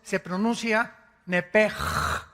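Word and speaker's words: נפש: palabra la letra o las letras sh en el hebreo se pronuncian en hebreo como J Entonces se pronuncia nepe y los los judíos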